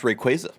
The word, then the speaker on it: Rayquaza: He learned that this is pronounced Rayquaza.